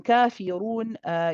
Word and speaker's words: كافرون: And then kafirun, you just have to make sure that the kaf, you prolong it for 2 counts because of the mad alif. The ra is heavy. And then you pronounce the noon at the end with a tawassut.